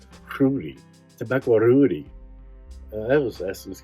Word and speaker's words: Roody: let's remake tobacco Rudy you're supposed to pronounce it like in a Hispanic roll your tongue Rudy tobacco Rudy that was